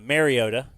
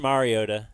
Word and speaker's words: Mariota: telling you everybody's great he kept saying uh marota which it's not a big deal but it is pronounced Mariota and everybody else gets